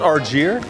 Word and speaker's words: Argier: Is that how you say it? It's Argier.